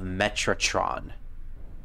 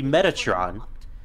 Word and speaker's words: Metatron: we continue doia says the Talisman of metraton metraton which is actually supposed to be Metatron while the subtitles call it